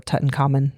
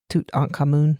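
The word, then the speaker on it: Tutankhamun: Like every we always say uh King Tut or Tuten and it's Tut Camun.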